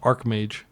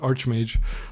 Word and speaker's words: Archmage: And I think it's pronounced Archmage. I just keep calling it Archmage, like he's working at McDonald's.